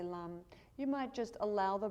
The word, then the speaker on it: lam: muladhara chakra the root chakra is lum l-a-m and so while we're